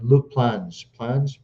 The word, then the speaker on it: Luke Plange: They brought in another right winger named Malcolm Ebiowe from Derby County, if I'm not mistaken, and Luke Plange. That's how you pronounce it.